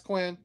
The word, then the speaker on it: Quinn: Quine. Yeah, it's Quinn. I thought it was Quine.